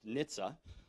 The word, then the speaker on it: NHTSA: A part of the Department of Transportation called the National Highway Traffic Safety Administration, the acronym is pronounced NHTSA, is responsible for regulating vehicle safety.